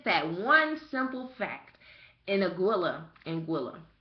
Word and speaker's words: Anguilla: In Anguilla, right?